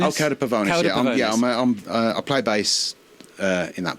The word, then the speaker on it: Cauda Pavonis: One of them, I'm going to get the name wrong again. Cauda Pavonis. Oh, Cauda Pavonis.